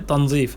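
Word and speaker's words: تنظيف: যেটা আরবিতে তানজিফ বলে উচ্চারণ তানজিফ বলে বা উচ্চারণটা সঠিক হচ্ছে তানজিফ পরিষ্কাররা স্কার্ট তেনুরা স্কার্ট তানি আবার বা পুনরায়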